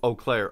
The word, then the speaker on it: Eau Claire: oh i believe it it's french so it's like eau de toilette oh eau claire okay i got it